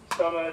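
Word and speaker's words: Somer: It's interesting the pronunciation of Summer's name. It's come through a couple of times as Summer. Well, the spelling is S-O-M-E-R.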